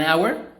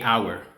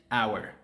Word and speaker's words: hour: manera, puedes usar a o a cuando estás pronunciándolo correctamente, right? So, an hour, not a hour.